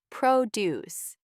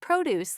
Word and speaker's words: produce: It's pronounced produce, and it means fresh food grown on farms, not produce like the verb.